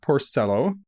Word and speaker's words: Porcello: or Canada so our guest today is Eve Porcello that's how you told me to pronounce it so that's how I'm pronouncing it